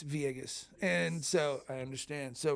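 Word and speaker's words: Villegas: My wife, her uh maiden name is Viegas, and it's spelled V I L L E G- A S. And most people will say Vus. So the the L's make E. So it's Vieus.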